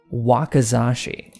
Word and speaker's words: wakizashi: how do you say that what's it called wakizashi he's a little he was a Japanese skeleton